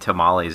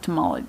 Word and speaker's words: tamale: woman brought in homemade tamali every Friday oh that's not right seriously every Friday it should be like tamale Tuesday cuz it Rhymes tamali Tuesday yeah tamale